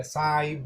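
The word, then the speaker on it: Sahib: First में आ और second place vowel जो भी आ रहा है ई, साहिब आ रहा है. सो H इज साइलेंट. आप ये इसको गायब करके आप पढ़ना पड़ेगा साहिब जैसा.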